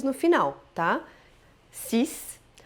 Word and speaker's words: six: 6. Não diga o X no final, tá? 6. O X aqui tem som de S, ouviu bem? Não de X, não é six como em inglês, é só 6.